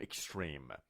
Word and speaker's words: extreme: به این میگیم اکستریم. آیا میگیم ا یا میگیم ای؟ نه، ا نمیگیم، میگیم ای. پس میگیم اکستریم. اکستریم. نمیگیم اکستریم. یادتون باشه تلفظش ای هستش.